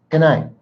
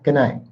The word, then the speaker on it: good night: If I'm talking to my friends, good night. But the T is still there. You see when I say it faster? Good night. You really can't hear the T, but I promise you it's there.